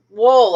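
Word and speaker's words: Wuhl: there that i mean robert wool i think w-u-h-l i think is how you pronounce his name he did a great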